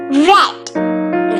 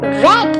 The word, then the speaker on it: read: all right in part in present tense we say read what about the past tense yes you got it correct we say as red v become red in past tense all